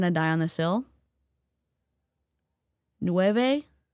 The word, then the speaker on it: Nueva: Nove is not noeva.